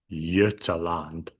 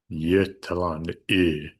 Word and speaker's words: Götaland: So this is Götaland. Götaland. And I'm going to come back to why I'm pronouncing that G as a Y in a moment too.